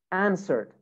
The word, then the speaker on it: answered: example played normal d answered answered now some students pronounce this pronounce this word like answer this is wrong it's not answer it's answer the w is silent actually answer burned burned normal